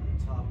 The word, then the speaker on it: Toph: Toph definitely rhymes with tough.